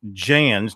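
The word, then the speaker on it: Jans: New Mexico State Chris is it pronounced hands and not yawns Chris Jan's not a bad start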